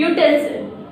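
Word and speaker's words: utensil: Next, यूटेंसिल, यूटेंसिल, यू चाहे ये यहाँ पर यू से शुरू हो रहा है, यू वॉवल है लेकिन वॉवल साउंड नहीं है, इसके साथ में यहाँ पर कॉन्सोनेंट साउंड से शुरू हो रहा है यूटेंसिल, इसलिए हम लोग यहाँ पर ए का यूज करेंगे।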